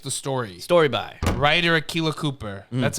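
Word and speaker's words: Akela Cooper: was he just the story story by writer Aquila Cooper that's how you pronounce it yep Strange New World do you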